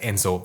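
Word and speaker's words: Emishi: haciendo un paréntesis aquí en contorno a los msi que también se puede pronunciar Enzo Y eso ha llevado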